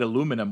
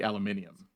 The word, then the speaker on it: aluminum: I I think it's that we call it aluminum when it should be aluminium.